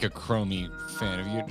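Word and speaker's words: Chromeo: You seem like a Chromy fan. Man, have you did you ever get into Chrommy? Chrommy. Chromio is how it's pronounced.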